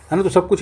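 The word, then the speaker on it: coup: कु होने के कु का मतलब क्या होता है सैन्य क्या बोलते हैं सैन्यास्ता पलट कु बोलते हैं इसको कु पी साइलेंट होता है कु है ना कु कोयल वाला कु ठीक है चलिए यार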